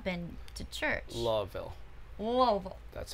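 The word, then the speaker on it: Louisville: Charlotte I have not been to church lville lville that's how you say it lville Kentucky I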